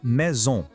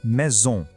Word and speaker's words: maison: A pronúncia é assim, la maison. De novo, la maison. Presta atenção nesse som bem nasal no final de maison, sabe?